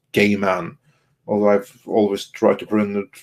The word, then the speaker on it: Gaiman: the neil gaiman series i do believe it's pronounced gay man although i've always tried